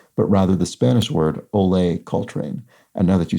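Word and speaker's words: Olé: didn't a small thing eight down is not pronounced Coltrane but rather the Spanish word Olay Coltrane and now that you say it I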